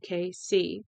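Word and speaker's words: Cayce: when I corrected him you say it like the initials for Kansas City KC he gave me a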